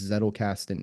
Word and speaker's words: Zettelkasten: How do you spell that? Z E T T E L K A S T E N.